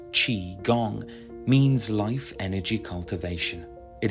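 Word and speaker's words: Qigong: Chi Gong, pronounced Chi Gong, means life energy cultivation.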